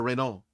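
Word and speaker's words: Rainault: R A I N A U L T Reo. Yeah. Uh, Mayor Reno is um happy.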